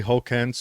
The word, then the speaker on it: Hokanson: i was looking around now we got von hawkinson on is that is the last name pronounced correctly hulk hence yeah that's right all right and he's running